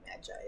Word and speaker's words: magi: seventh rank warriors and magi who could unite to penetrate the Velosa Dragon's scales. I'm going to just make sure I also know how to pronounce this. Magus. I had Okay, magi is correct.